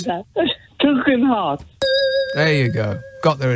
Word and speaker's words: Tugendhat: Say Tug. Tug. Heart. Yeah, but how could Lindsay say that? Tugendhat.